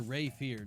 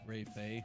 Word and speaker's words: Ray Fear: Or Ray Fear. Not Ray Fay. Ray Fear.